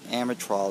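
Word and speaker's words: Amtrol: this is a wellx or amatrol I believe is the way it's pronounced uh model number wx-250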